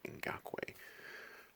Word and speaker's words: Ngakoue: I had to learn how to say the name Ngakoue.